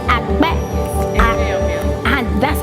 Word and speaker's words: akpe: Akpe. Akbe.